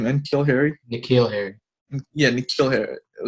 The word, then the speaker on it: N'Keal Harry: N'Keal Harry.